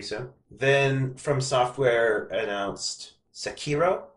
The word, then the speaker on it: Sekiro: Then From Software announced Sekiro, I think it's pronounced.